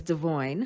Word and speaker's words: Devoin: I mean, I really don't like mispronouncing his name. All these years, freaking Brianna says his name wrong, but the correct pronunciation I have learned is Devoin.